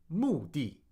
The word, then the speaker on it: 目的: But in words like 目的, 目的, it's pronounced di, 目的, which you can only